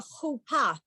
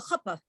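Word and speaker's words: חופה: And the bride and the groom stand under a chuppah. And some people call it a chuppah. That's the Yiddishized version of that word.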